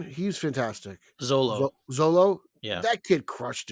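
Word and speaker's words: Xolo: do you say Jaime's real name he's fantastic Zolo Zolo yeah that kid crushed it man yeah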